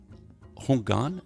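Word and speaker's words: houngan: You were ordained as a Hungan. Am I pronouncing that right? Yes.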